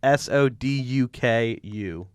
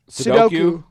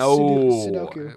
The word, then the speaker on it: Sudoku: I'm going to spell it. How do you pronounce it? Soduku. Sudoku. Yeah. Look at that. Sudoku. No, it's Sudoku.